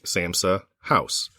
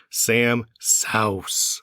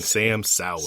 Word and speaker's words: Sa'House: So when you look at the writing, it looks like Samsa house. But the way that he recommends it pronounced, and the way that if you listen to him in any iteration of social media or recording, it's Sam Sauce.